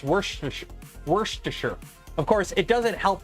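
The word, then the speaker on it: Worcestershire: it can always happen yeah does anyone ever pronounce it right I know it's Worchester Shire sauce or Worchester Shire sauce but it's it's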